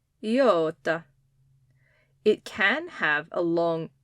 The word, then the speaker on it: iota: the letter name for the eat sound is iota Yota it can have a long e sound or